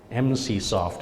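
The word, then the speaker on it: Emsisoft: spelled e m SI i s o ft MC soft is how it's pronounced next question is um a lot of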